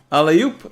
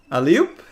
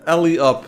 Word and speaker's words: alley-oop: Like alley and then oop. Alley-oop? No, not alley-up. It's not Alibaba. It's not English. No, it's French, I think.